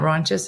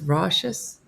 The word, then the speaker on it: raucous: It's not raunchous, it's raucous. Am I saying it wrong? Am I spelling it right? Yeah, let's look up. I like raunchous. I'm saying it wrong. Raucous, let's say. Unpleasantly loud. There's no N in it.